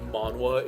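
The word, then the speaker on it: manhwa: a night or a week excuse me it's pronounced manwa it's korean let me put this out yes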